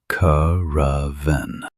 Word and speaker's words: caravan: This is a caravan. A caravan is a group of people, especially traders or pilgrims, traveling together across a desert in Asia or North Africa. Notice the stress on the first syllable. Curven.